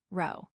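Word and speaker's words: rho: We could find the population correlation coefficient which is labeled as the Greek letter row pronounced row.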